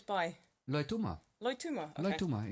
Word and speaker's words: Loituma: Loituma.